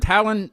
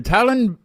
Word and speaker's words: Tallinn: in Estonia and mainly is it Talon or t talin is that how you say it t t Talen t Okay Talon yeah talin is fine yeah uh wait a